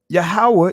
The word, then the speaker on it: Yahweh: You'll see the YHWH, which is the proper pronunciation of the Most High's name, Yahweh.